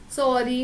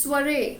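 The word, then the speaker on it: soirée: The last word is this, you will pronounce it as sorry, no, it's soiree.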